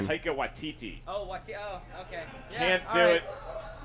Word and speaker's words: Taika Waititi: You gotta know how to pronounce his For name. Taika Waititi.